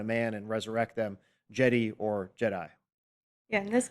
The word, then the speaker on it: Djedi: Yes, and yeah, D like Jed Pillar. like Jed Pillar, Djed, where, you know, obviously Lucas just dropped the D and made it Jedi. Same pronunciation.